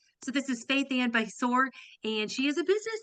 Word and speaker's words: Basore: I finally know how to say her last name correctly. It's All it's right. Basor. Oh, see, and then I just ruined it. I ruined it. It's That's okay. Besor.